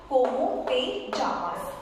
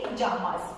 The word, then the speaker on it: llamas: But yeah so this double L here I will mention Jamas. Though it's mentioned as double L but it pronounces jamas means what is your